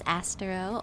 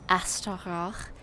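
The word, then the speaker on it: Astaroth: So, for those of you who haven't been following the saga, hi, my name is Astero, or Asteroth, if you pronounce it properly.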